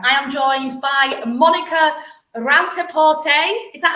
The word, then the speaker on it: Rauter-Porte: I am joined by Monika Rauter-Porte. Is that how it's pronounced, Monika? Rauter-Porte.